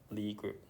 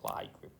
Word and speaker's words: Lie group: So but it turned out that it's actually Lie group, not Lie group.